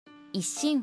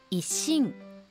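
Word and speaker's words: 一心: 一心は促音と発音のリズムに注意して読みます。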